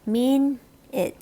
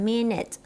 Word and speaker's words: minute: คะ ตัว นี้ นะ คะ ออก เสียง ว่า Min it นะ คะ คะ minute อ้าว ทำไม ตัว นี้ ไม่ ออก เป็น เสียง